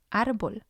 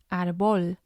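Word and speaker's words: árbol: and it's completely different the second example is arbol ar it means tree and again we have two syllables and we see the accent on the second one as listed on the screen so that's the one that's going to have the stress otherwise it would have been as arbol and again that doesn't sound right and then we have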